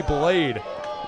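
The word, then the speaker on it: Bladee: LP by artist blade b-l-a-d-e-e the second e is silent or the first one who knows you're back to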